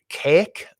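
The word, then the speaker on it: Kazik: the men and blacks planet of cake which is how it's pronounced k-a-z-i-k um it's a weird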